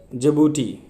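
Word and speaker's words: Djibouti: 45th question देखते हैं, with reference to दी जिबूटी, इसको डी नहीं, डी साइलेंट होता है।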